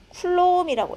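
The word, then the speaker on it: coulomb: 쿨롬이라고 읽어요.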